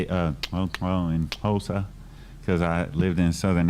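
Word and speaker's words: Xhosa: And when you put a X and a O, it goes, oh. That's your, oh, click.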